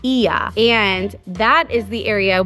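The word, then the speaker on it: Oia: Although there is quite a few, but the famous one is actually in a town that's spelled O I A and it's pronounced Iya.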